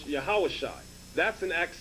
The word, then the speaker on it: Yahawashi: 7 verse 45 okay you have the yah ha sha and the i sound here pronounce yahawashai that's in acts 7